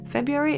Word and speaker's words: February: writing February below it February is the most difficult month to pronounce in English I think because you're not saying the r at least Americans don't